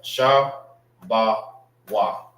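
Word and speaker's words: שבו: Sha ba wa. That's how you say a gate in the Hebrew.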